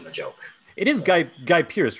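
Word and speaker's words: Guy Pearce: character by making the joke it is guy guy pierce right memento am i saying his name wrong uh no that's right yeah yeah okay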